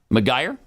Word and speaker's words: Macgregor: McGuire? Is it McGuire? McGregor? I thought it was McGregor. Yeah. McGregor, it is.